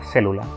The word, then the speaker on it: célula: tónica es la tilde, como es en la palabra célula. Cuando vemos que la tilde está ubicada en la E, sabemos perfectamente que la vocal tónica es esa.